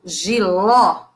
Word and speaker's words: jiló: um aberto tá o outro exemplo jiló esse ó é um o aberto e nós temos o